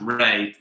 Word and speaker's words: Rea: rea so it's felt river ria but it's pronounced ray so which major uk sydney was founded in